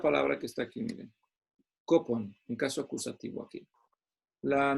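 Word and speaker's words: κόπον: En primer lugar, esta palabrita que dice fatiga, en el idioma original es una palabra, esta que se pronuncia así, kopon, aquí en caso acusativo, para los que saben de griego y les gusta practicar.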